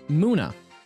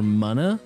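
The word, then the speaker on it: Munna: what's the what's the muna muna or mana depending on how you want to say it wrongly it's not claimed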